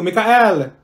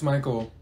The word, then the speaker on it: Michael: Mikael. Ma'am, it's Michael.